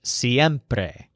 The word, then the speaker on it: siempre: he uses the word siempre so this word stresses a syllable that sounds like hemp without the H siempre now notice that the